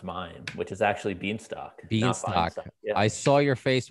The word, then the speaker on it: Bienstock: name, but we didn't talk about how to pronounce mine, which is actually Bienstock. Bienstock. Yeah. I saw your face when I said that. I was gonna take a guess. So it's Bienstock.